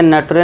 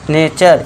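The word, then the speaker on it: nature: इसमें क्या होगा नेचर इसे नटरे नहीं पढ़ना नेचर इसी तरह इसे क्या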